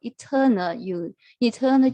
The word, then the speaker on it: eternal: So the stress is on the second syllable, eternal joy, and will not chase the illusions.